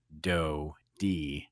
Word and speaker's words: Doty: fool Amazon into thinking I said Do D, because when I try to, she doesn't understand how to pronounce his last name. So I made a playlist called Do D, like DOE.